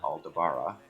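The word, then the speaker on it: Aldabra: if we're looking at the tortoises they are aldebara that's how you pronounce it tortoise um it looks like they're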